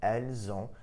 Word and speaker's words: elles ont: You'll also notice that when I pronounced it, ils ont, elles ont, the S in il, elle, which is normally silent, was actually pronounced, and I pronounced it like a Z.